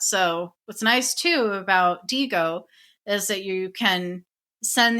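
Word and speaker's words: Digo: And last but not least, the tool I wanted to quickly go over is DGO. And that's spelled D I G O.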